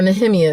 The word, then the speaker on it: Nehemiah: the provision it would be given look at nehemiah um or nehemiah is really how you pronounce it look at him in the hemiah